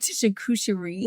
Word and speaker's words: charcuterie: How do you say that word? Charcuterie. That one.